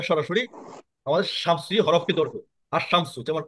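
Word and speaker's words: الشمس: না আলিফ ইয়া সরাসরি আমাদের শামসি হরফে ধরবে আশামসু যেমন আলশামসু হবে না আলশামসু আল নাস হবে না আর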